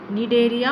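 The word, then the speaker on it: Cnidaria: Divide होता है ये, निडेरिया और टीनोफोरा। सी साइलेंट है इसमें।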